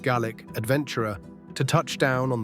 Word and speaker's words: Gaelic: Fresh off the plane from Colorado, the newest Gaelic, pronounced GIC adventurer to touch down on the mighty aisle of northeast.